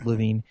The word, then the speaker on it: Lewin: Levine by the way people say his name is Lewin actually look at the pronunciation it's living and I'm looking at